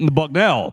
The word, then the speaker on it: Bucknell: ear hard if you weren't ready for it Bucknell buckell buckell I like it look he should